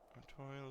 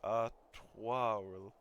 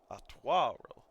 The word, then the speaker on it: Artoirel: Artorial is meant to be pronounced Artoirel. Artoirel. Honestly, Artorial is easier.